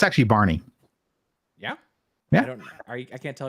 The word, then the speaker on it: Bjarne: Yeah, it's Barney. Barney Strustrup. I did not know that. I've never heard his name pronounced.